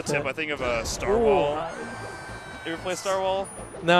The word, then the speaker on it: Starwhal: I think of a Starwall.